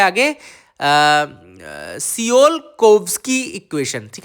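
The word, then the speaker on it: Tsiolkovsky: Beat the trap of सियोल-कोव्स्की equation, है ना। तो यहाँ पे मैंने इसको टी साइलेंट माना हुआ है ना, TSI में टी साइलेंट किया हुआ है मैंने। तो आप देख सकते हैं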